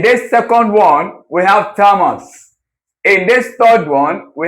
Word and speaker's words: Thomas: The Thomas the H is silent.